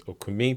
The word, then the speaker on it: Okumi: I mean it's uh I think technically it's okumi but I've become very aniz in my my